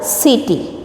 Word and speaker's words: city: Carpet, careful, corner, city. Here everywhere C is pronouncing as a Ka sound and only here C, city.